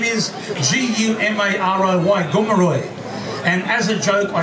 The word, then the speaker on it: Gumaroy: the sydney living museums my name is g-u-m-a-r-o-y gomeroy and as a joke i spelled it like that because when you spell it back in front if you understand the